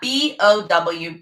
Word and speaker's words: bow: so we spell that b-o-w bow so just spell just like the bow that goes in your hair or a bow tie so this is a